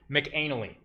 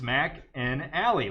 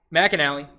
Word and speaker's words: McAnally: It's Mac and Alley, like steak and shake.